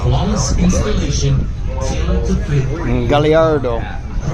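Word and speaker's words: Gallardo: Galliardo. And I know it's pronounced that way because when we were in Italy, I asked at the Lamborghini factory. Galliardo.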